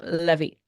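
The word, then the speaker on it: Lévi: call we'll call him Levy um but it's Levy uh but yes that is uh well I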